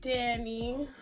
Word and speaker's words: Dhani: perfectly fine too but my name is Danny and I spelled like Danny Phantom and I spelled like Danny as in Danielle d h a n i yeah very different and